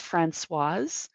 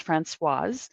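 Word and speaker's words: Françoise: you guys it's pronounced franois because it's a woman the SE at the end you pronounce the S so it's franois if it was a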